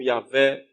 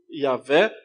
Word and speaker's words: Iavé: Ninguém sabe a pronúncia desse nome, porque é só um nome composto de 4 consoantes sem vogais. Ou seja, é difícil pronunciar consoantes sem vogais. Algo parecido com o Iavé, né? É o mais próximo possível que a gente pode falar desse nome.